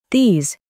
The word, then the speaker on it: these: Pero presta atención a la pronunciación de estas dos. This. These. This. These. ¿Notaste la diferencia?